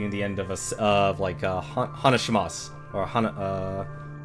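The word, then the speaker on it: 話します: the end of a hanashimasu or You know, there's actually a U at the end of it, but you don't pronounce it. That's silent.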